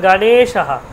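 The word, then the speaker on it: গণেশঃ: এটা হয়ে গেল গণেশাহা, কি হলো, গণেশাহা। যেহেতু এ কারটা কি আমার দীর্ঘ, দীর্ঘস্বর, এই জন্য দীর্ঘ উচ্চারণ হচ্ছে। গটা কিন্তু হ্রস্ব, এই যে গণেশা। দেখুন গটার জন্য সামান্য সময় ব্যবহার করছি, তারপর নেটা দেখুন বেশিক্ষণ টাইম লাগছে, গণেশা, শটাও অল্প, শুধু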